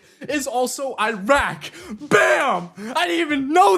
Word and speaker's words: Iraq: We say Iraq, but it's Iraq, you know?